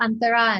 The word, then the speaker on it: Antara: thara the mother and anthara and am i pronouncing the names reasonably correctly or can you i i say antara and tara but i'm not anyone to correct you so okay all right